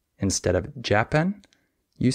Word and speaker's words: Japan: example the country Japan in this word the second syllable is stressed Japan however many English Learners stress the wrong syllable they say japen and that's wrong but it's very easy